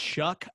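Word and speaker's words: Shough: look at oregon and although the kid's name is spelled s-h-o-u-g-h somehow it's pronounced shuck i don't know how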